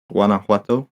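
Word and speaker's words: Guanajuato: mines and is it is it Guanowato is how you would pronounce that particular place in Mexico? Guanauato. Guana. Yeah. The Jay's got to hit it like a H almost.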